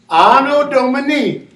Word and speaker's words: Anno Domini: A is ano. Ano. Ano. Anno Domini. Good.